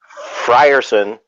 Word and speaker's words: Frierson: how do you say your last name again frierson fire Sam you have Eddie Marsan and it